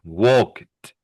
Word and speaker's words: walked: So we have walk becomes walked. Do you hear the t sound?